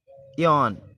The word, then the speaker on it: AEON: Next देखें यान, यान मतलब श्रेष्ठ युग, एक बेहतरीन युग।